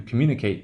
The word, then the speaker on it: communicate: And as we have seen, communicate is verbal, that ate will be the long value, communicate, and you can hear it.